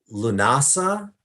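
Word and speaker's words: Lughnasadh: for the mid-summer festival is um lunasa spelled with lots of g's and h's or llamas and that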